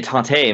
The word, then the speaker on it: TATE: the uh tape mode or tate or however you want a t-a-t-e you know i just say tape mode i'm sure i say i say tate too but i've heard people